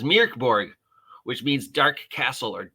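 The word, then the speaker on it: Mörk Borg: been saying it wrong it's not Mor Borg it's Mir Mir mirk Borg almost like meow Borg oh God I just introduced another possible Mor Borg parody meow Borg so it's mirk Borg which means Dark Castle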